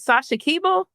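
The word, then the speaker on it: Sasha Keable: to correct me, because am I pronouncing the name right? Is this Sasha Keeble? Is that how you say it? Yes, you are saying it right.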